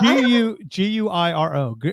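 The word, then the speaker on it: güiro: Is that, did I pronounce that correctly? Guido, yeah. Guiro? Yeah. Guiro.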